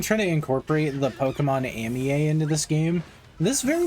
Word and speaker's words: Amie: I used to think it was Amie, but I guess it's Pokemon Amie. Because it's supposed to be like the phrase Monami.